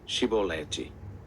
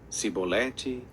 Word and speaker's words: chibolete: não então lhe diziam dize pois chibolete porém ele dizia sibolete porque não o podia pronunciar bem então pegavam dele